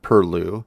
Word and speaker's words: perloo: you might never have heard of the word purlue and considering that this is how you spell it versus pronounce it it may just be